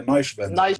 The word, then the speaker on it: Neuschwander: E Rivane Neuschwan? Ah, não, acho que é Neuschwander que se pronuncia.